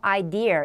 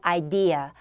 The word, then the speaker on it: idea: 여기는 끝에 R 발음이 없죠. idea 이렇게 발음하시면 안 되고 idea.